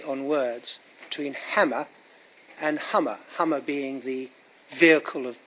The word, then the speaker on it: Hummer: And the hammer that we see that becomes very popular for ODM is a play on that word, Hummer, pronounced like hammer in Kenya, and it became, and that was the reason, wasn't it?